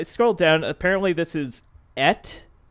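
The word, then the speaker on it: את: Yeah, but apparently it's pronounced Et.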